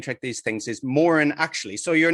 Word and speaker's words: Moran: It's Moran actually.